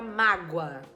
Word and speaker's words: mágoa: me causou muita mágoa esse mágoa é escrito com o mas o som é de U mágoa você me causou mágoa certo então a primeira sílaba é o ma e o a é a vogal tudo bem o a é sempre vogal inclusive e na segunda sílaba esse o e esse a Na verdade o a que é sempre vogal é a vogal e o o que tem som de u é a semivogal certo